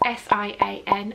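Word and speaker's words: Siân: So my name is Sian, which is spelt S-I-A-N with a circumflex over the A, but it's pronounced S-H-A-R-N, Sian.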